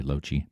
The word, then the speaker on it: Lochie: That's how you pronounce my name, by the way, lochie.